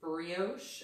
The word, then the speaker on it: brioche: This is Advanced Brioche. Is that how you say that word? It's how you say it, but I've never heard that associated with the word knitting.